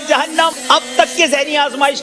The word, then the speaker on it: جہنم: درست تلفظ کا انتخاب کریں. جہنم یا جہنم؟ جہنم. آپ نے کہا جہنم. عبداللہ غلطی نہیں کرتے مگر ان سے بھی غلطی ہو گئی ہے. لفظ ہے جہنم.